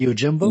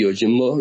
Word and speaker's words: Yojimbo: Yosagi Yojimbo.